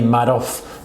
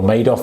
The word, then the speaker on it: Madoff: We had Bernie Madoff, or Madoff, however you want to pronounce it, obviously the massive famous one who